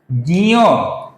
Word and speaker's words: ज्ञ: तो ज में मिल जाता है इयो, फिर ये अक्षर बनता है जियो। गौर से देखिए, जियो, जियो, जियो। ये है इस अक्षर का सही उच्चारण दोस्तों, जियो।